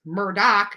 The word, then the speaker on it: Murdaugh: What one article aptly called "Lots of Dead People and Crime" involves the Murdaugh, pronounced Murdoch is what they say, but it's Murdaugh, family which has amassed power and wealth in South Carolina for over 100 years.